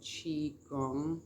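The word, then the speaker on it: qigong: could look into there's a practice called chi gong which is spelled q-i-g-o-n-g it is a martial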